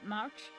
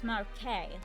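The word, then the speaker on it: marché: pronounce And I was I was pronouncing pronouncing uh you know the market. I was pronouncing it March. It is Marqu.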